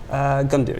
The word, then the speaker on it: Gundir: Have I pronounced that right? Gundir, yeah, Gundir.